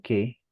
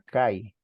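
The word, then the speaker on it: καί: en el Juan un se escribe K no ahí pero se debe leer que por el diptongo que existe en estas dos vocales se debe leer que no cap más é Por qué Porque es la forma correcta de como se leía el texto griego kini o cómo se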